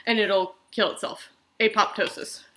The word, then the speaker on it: apoptosis: and it'll kill itself apoptosis or apotosis if you say it how the Greek pronounced it but anyway apoptosis